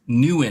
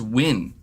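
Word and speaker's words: Nguyen: quick now somebody's saying it's not pronounced newn it's just pronounced win are you sure like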